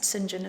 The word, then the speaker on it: St. John: can also look at Sinjin and Rochester in parallel so Sinjin and that spelt st. John but it's pronounced Sinjin as a name is